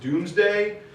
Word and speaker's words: Domesday: And it's spelled Domesday, but it was pronounced Doomsday.